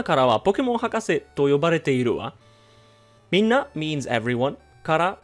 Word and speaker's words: yobareteiru: As you can see, it's pronounced as yobareteiru.